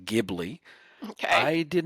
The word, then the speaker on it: Ghibli: There's a thing called Ghibli, which I'm told is pronounced Ghibli.